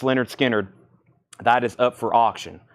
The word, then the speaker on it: Lynyrd Skynyrd: came out 35 star that's pronounced Leonard Skynyrd pronounced Leonard Skinner that is up for auction we'll keep that